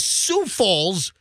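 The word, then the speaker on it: Sioux Falls: all of your business mailings go instead of Sue Falls it was Sauk Falls because because Sue Falls is spelled s IO uux you know I did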